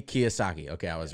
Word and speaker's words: Kiyosaki: never seen that deal before yeah Robert T Kiyosaki okay I was right but basically it's a